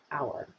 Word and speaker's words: AUAR: of automated architecture which we shortened to auar and pronounced as our our is an architecture